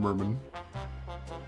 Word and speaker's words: Merman: I I don't It's spelled like merman, but he rhymes it. Herman Murman.